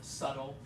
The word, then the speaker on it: subtle: various files marketing where oh yeah the B is silent subtle subtle that means not obvious